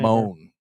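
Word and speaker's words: Mohn: with with this young man Justin moan oh they pronounce it man man m o h n what's up my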